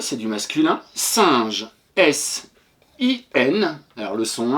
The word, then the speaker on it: singe: Et attention pour je te rappelle que le G devant le E se prononce J devant E, I et Y et qu'il se prononce G devant A, O, U.